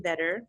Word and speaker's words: Vedder: And I have Eddie Vedder, born in 1964.